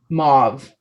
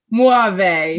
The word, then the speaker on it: mauve: u v e mauve mauve i would say like moive muave no mauve it's a color oh